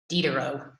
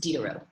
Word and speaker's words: Diderot: cedar row once again this is french so the i says e it's d a row it's pronounced like d der oh diderot but i'm going to